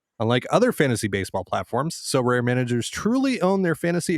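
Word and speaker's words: Sorare: win a variety of rewards which can include so rare scarcity cards game tickets merchandise signed jerseys and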